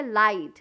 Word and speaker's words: light: लाइट, लाइट मतलब उजाला, LIGHT, लाइट। बट आप spelling करें LIGHT, लाइट, लाइट, तो आप क्या स्पेल करेंगे, LIT, लाइट।